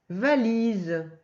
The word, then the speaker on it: valise: Valise. Alors le Z de valise, c'est le Z de oiseau, parce qu'il est entre deux voyelles, il y a un I et un E.